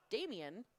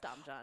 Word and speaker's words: Damian: And I learned I've been pronouncing this poor gentleman's name wrong all day. Damian, not Dom John.